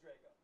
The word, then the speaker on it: Drago: Pronouncing your name right? Drago? It is Drago.